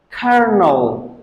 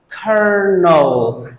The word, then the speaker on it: colonel: has a crazy pronunciation so we pronounce it as kernel Yes you heard that correctly it is Colonel kernel no there's no R